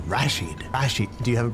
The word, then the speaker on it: Rashid: I emphasize the first syllable, Rashid.